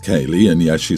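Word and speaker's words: Caeleig: My wife suggested Kayleigh, C-A-E-L-E-I-G, pronounced Kayleigh, and yes, she spelt it out.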